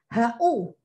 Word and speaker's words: who: Kebanyakan anak bacanya WHO gitu ya. Tidak nak, dibaca WHO saja. HU.